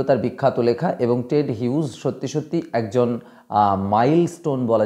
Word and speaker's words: Hughes: ওন নিজের true family সত্যিকারের পরিবার লিখছেন টেড হিউজ কেউ কেউ উচ্চারণ করে হাগস টাক্স উচ্চারণ করে যাই হোক টেড হিউজ তিনি